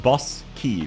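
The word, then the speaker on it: Bosky: We just call them Bosskis. And it is B O S K Y. So it is pronounced bus key though, so I understand the confusion.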